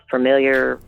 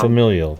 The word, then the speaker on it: familial: the time to get is it familiar? I always pronounce that wrong. Familial.